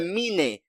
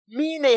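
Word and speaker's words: Myne: I call her Mine.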